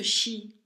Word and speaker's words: Sidhe: Alors ça se prononce Shi, ça s'écrit Sid, mais ça se prononce Shi.